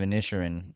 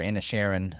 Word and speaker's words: Inisherin: What really got me was whenever you told me You had watched The Menu and Oh, Banshees of Inisherin, yeah. or Inisherin, I think is how they pronounce it.